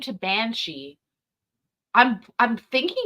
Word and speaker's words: Banshee: So today we're just dealing with you, and you want the Gaelic version, Banshidhe, Yes. easily pronounced Banshee.